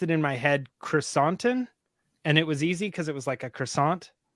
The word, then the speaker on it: Krrsantan: a little an instead of an on, so Krrsantan.